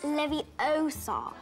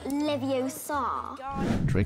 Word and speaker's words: Leviosa: is obnoxious or bothersome I'm saying it wrong it's Leviosa not leviosaur Malfoy was translated to